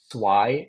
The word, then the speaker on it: swai: protein and it's the cheapest don't get it sway is all farm grown in Vietnam terrible conditions